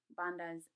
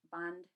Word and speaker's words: bandhas: Usually you'll hear, so yoga, you'll hear it called yog, pranayama, pranayam, asana, asan, kumbhaka, kumbhak, bandhas, band.